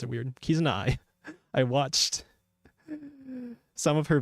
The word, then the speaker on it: Kizuna: And again, I knew of Kizuna. Yeah, why do I always pronounce it weird? Kizuna.